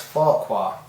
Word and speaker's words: Farquhar: With this letter, I've enclosed some A4 size photos of my 00 scale layout Farquhar, pronounced Farquhar.